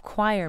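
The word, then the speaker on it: coir: local industry, that of choir making. The ropes are woven especially by the women who live along the coast. So this fiber that's taken by this... Choir is spelled C-O-I-R.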